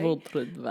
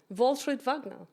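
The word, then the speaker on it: Waltraud Wagner: Walt Wagner.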